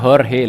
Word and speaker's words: Jorge: di sana bernama horhe tulisannya Jorge Tapi bacanya horhe Lur Oke dan horhe